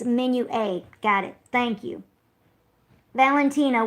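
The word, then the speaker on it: Menuet: So it looks like Minuet, but it's Menu A.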